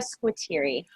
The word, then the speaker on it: Squitieri: Yes, sometimes in Italian it's a hard Q, so Squitieri, but Oh my gosh.